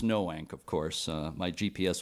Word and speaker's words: Noank: right here in Noank uh and it is pronounced Noank of course uh my GPS was telling me NOK on the way here but I know I